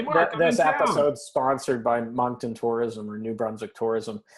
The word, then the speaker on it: Moncton: It's got fine dining, which I was looking just to find out how to pronounce Moncton, Moncton.